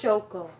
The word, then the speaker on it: Shoko: Shoko.